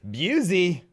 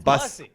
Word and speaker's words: Busey: Guys, give it up, the one, the only, Busey. Busey, you got my name wrong. It's close enough. You're fine. Oh, man, Bussy. Bussy. There you go. Everybody gets it wrong. Everybody goes Gary Busey, and so it's totally fine.